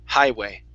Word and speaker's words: highway: So the uh it almost sounded like you were pronouncing that gh just a little bit. So that gh ah forget about it. Okay. So it's high highway.